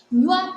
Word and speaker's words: nywa: And thus it means when we are pronouncing them, we just pronounce them at once. For example, we have a word like nywa. Nywa is a one syllable word.